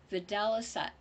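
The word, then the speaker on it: videlicet: is permissible to see in Latin pronounced vidalisa which was once the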